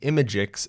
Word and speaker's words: imgix: So every image that comes from Prismic uses the imagix CDN. It's spelled IMGIX, like that, and see how it's auto-completing for me.